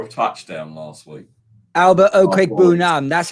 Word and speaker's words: Okwuegbunam: Albert Okwuegbunam. That's how you pronounce his name.